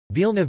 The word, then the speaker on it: вълна: Bulgarian stress is also distinctive. The following examples are not only differentiated by stress, see the different vowels. Nouns vilna vn, wool, vilna v na, wave.